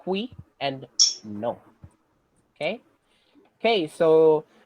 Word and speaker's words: oui: So the actual pronunciation for that is hui, hui, as in the hui. But if you use like an American accent, it's we.